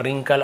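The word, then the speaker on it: wrinkle: सीधा ही देख लीजिए जैसे डब्ल्यू के साथ यदि आपको आर मिलता है तो डब्ल्यू को नहीं पढ़ना है और आप देखेंगे यहां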